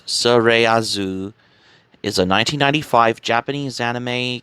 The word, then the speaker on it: スレイヤーズ: as slayers as well you want to pronounce it in the japanese translated name as surayazu is a 1995 japanese